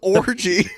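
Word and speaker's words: Orji: run good run it's it is spelled o rji his name is orgy what a name what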